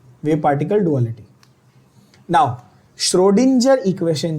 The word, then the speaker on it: Schrödinger: बहुत सारे टीचर भी इसको श्रोडिंगर बोलते हैं, जो एक्चुअली सही नहीं है। श्रोडिंजर इज the correct pronunciation, okay बच्चों, बट ठीक